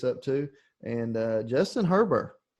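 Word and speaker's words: Herbert: too and uh justin herber herber i have i was told that the t is silent from oregon is that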